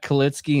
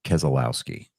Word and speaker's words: Keselowski: all well uh Brad kitzski and Bubba walls fell out of NASCAR's Cup playoffs spot after do David David I'm gonna educate you it's pronounced Keselowski we already established some